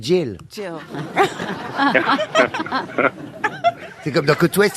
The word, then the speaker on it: Jill: Vous prononcez pas bien, c'est Jill.